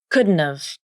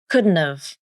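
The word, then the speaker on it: couldn't've: First, the initial H consonant in have is dropped.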